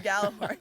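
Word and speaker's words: Gjallarhorn: I'm not going to say the proper name because I'll butcher the Galler horn? Yeah, the Galler horn.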